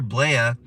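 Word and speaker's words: Blea: idiot right there that's officer blaia it's spelled b-l-e-a like flea i like to call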